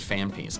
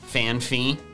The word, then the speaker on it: Phanpy: Can we just take a moment to remind everyone that John pronounces fan pee fan fee because he thinks there's an H after the second P?